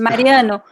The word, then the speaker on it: Maria: So most of the words that you see like 2 vowels at the end of the word, the stressed syllable in the stressed letter is the second to last vowel, as in this word.